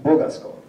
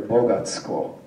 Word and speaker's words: Bogasko: which would be improbable, he would have stressed the last syllable. That's where this town name is stressed in Greek today. But this is Bogasko. Now, as it comes out eventually, people then say later Bogatsko.